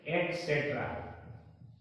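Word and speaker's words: etc.: क्या बोलते है टीसी इसका शुद्ध उच्चारण है एक्सट्रा एक्सट्रा क्या उच्चारण है एट सेट्र एट सेट एटस एटस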